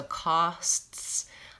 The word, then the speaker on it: costs: a video for that so costs I'm having to move from the S to the T to the S so I would try